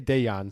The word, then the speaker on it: Dejan: They did say Dejan, so we know that the J is a ya.